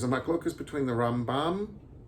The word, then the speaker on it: Rambam: mic focus between the Rambam Rambam is supposed to be pronounced with the accent on the first syllable Ben maíam Rambam alphabetically